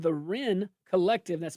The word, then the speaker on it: Wren: A new report from the Law Enforcement Legal Defense Fund shows that a group called the Ren Collective, that's spelled WREN, likely after a Supreme Court case, if I had to guess, um, has been quietly writing.